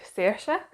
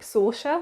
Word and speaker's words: Saoirse: The main character's name is, in the first book, is called Saoirse, and that's how it's pronounced by Terry Donnelly. But in the second book, this different narrator pronounces it as, I think, Saoirse, which was quite weird.